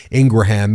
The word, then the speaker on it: Ingraham: Curtis ingraham's analysis is and yes it is Ingraham in the interview Curtis Ingram said no our last name is pronounced Ingraham for all those people who say it's Ingram no it's actually Ingraham and in this interview